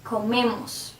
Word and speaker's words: comemos: If I say nosotros comemos, if you see, the stress is in me, the syllable before the ending, comemos.